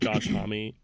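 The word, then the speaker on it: Josh Homme: I'm pretty sure it's Josh Hammy. Alan Johannis. Not Alanis Moriceet. Dave Gro. It's D for Dave Gro. Yes, it is. Also, I'm pretty sure it's pronounced Josh Mommy.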